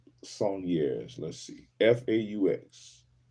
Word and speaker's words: faux: The French word faux meaning fake or imitation which I knew that one is pronounced fo.